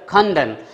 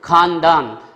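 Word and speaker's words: خواندن: It comes from Persian word खंदन. Most of students, my dear students, read it और pronounce it खानदान. इट इज़ नॉट अ खानदान.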